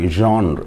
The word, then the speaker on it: genre: sonets as a poetic genre g n r genre that is the right pronunciation for the word g e n r